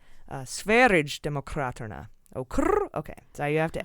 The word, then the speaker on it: Sverigedemokraterna: out I was close, but it's a soft G, like GIF. It's not GIF, it's GIF. And that makes it Sverigedemokraterna.